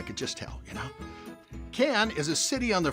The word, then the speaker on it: Cannes: Cannes is a city on the French Riviera known for the Cannes Film Festival. Now, Cannes is spelled C-A-N-N-E-S, but pronounced Cannes without the S.